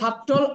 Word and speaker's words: subtle: pronunciation will be that Oh, correct pronunciation will be that. এবার আসেন last ওয়ার্ডটা subtle মানে সূক্ষ্ম আমি বলবো subtle আপনি বলবেন subtle Subtle Ready?